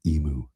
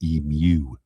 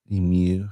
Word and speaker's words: emu: Well, no, and in England, I'm telling everybody about our emu, and I'm told it's not an emu, it's an emu. Emu. They pronounce it emu.